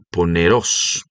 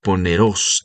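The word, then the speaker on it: πονηρός: El verbo o la palabra que traduce aquí maligno en el idioma griego, porque el evangelio se escribe en el griego, es pone poneros.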